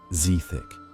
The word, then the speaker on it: Zthic: Poison masters in Black Marsh refined a distillate from the gills of the Zthic eel, pronounced Zthick, creating a paralytic mist absorbed through skin.